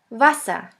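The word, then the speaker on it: Wasser: one is v v which sounds like the v in the word van the German word with the letter V is Vasa Vasa which means water the next letter is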